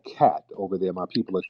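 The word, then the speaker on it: khat: i want everybody to the drug k-h-a-t all right or something pronounced cat it's a drug over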